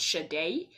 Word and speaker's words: Sade: follow yeah follow study but you pronounce it shade that's shade half for